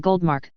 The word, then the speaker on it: Goldmark: The old currency of Germany prior to WWI was called the Goldmark, pretty much pronounced like that, and it was exchangeable